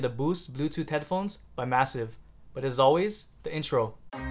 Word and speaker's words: MSSV: the boost headphones by massive so these are the boots headphones by massive and yes it is pronounced massive as it says so right here on the box and they are over